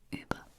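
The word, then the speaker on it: über: is you already saw it above okay so uber uber this is how it's pronounced uber and it simply means above above as in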